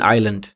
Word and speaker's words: island: DEBT date ምን ብለን የምናነበው DEBT ነው። so B is silent consonant ማለት ነው። ለምሳሌ አሁን S in island island ስንላውን አይላንድ ብቻ ይመስልናል አይደል?